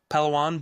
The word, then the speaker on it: Palawan: How do you pronounce the beach? It was like pan palan. Palawan.